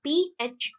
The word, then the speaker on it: Phoebe: The spelling is Phoebe, but its pronunciation is Phoebe.